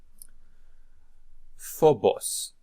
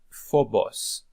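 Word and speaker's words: φόβος: move on to more words that we can pronounce here for practice Phobos Phobos sphere Phobos Thanatos Thanatos Thanatos death okay death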